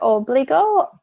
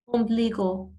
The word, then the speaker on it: ombligo: Obligo? No. I'm not saying it right. Ombligo.